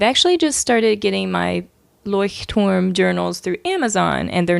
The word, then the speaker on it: Leuchtturm: I'm pretty sure that's the pronunciation. Basically, it's Leuchtturm, Leuchtturm.